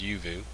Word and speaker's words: Uvioo: even though it looks like uio it's actually pronounced yuu uu anyways um it's a a website that